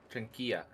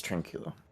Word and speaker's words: tranquilo: what he said yeah trunkia or no i can't say it right now what's wrong with me i know spanish is tranquilo yeah that's what was